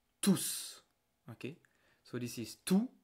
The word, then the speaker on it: tous: But when I use it as a pronoun, I pronounce it like tous. Okay? So this is tout and this is tous.